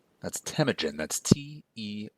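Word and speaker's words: Temüjin: as Jenis Khan and his real name was tagen that's tagen that's te m u j i n tagen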